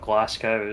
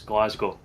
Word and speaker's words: Glasgow: It's not Glasow. It's Glasgow. Glasgow. I mean, that's pronounced fairly similarly to how it's written, right?